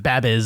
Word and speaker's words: Babyz: That's actually Where's the- pronounced Babbies.